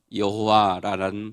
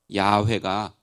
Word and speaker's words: 야훼: 가까운 발음이냐 하는 것입니다 현대의 성서 신학자들은 여호와라는 발음보다 야훼가 훨씬 더 원래 발음에 가까울 것이라고 말합니다 그래서 저 개인적으로도 가능하면